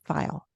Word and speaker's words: Feil: live f is that right feel or file file file F okay yes exactly how do you how do you spell that it's spelled f l which is